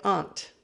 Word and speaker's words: aunt: quite some time and now i say aunt but when i go back home to the states i start to say ant because that's what i hear so let's look at